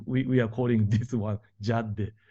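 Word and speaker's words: Cadde: CAD DDE and we are calling this one Jad J is I think that I heard that uh Turkish Turkish Turkish pronunciation the in Turkish Jad means way way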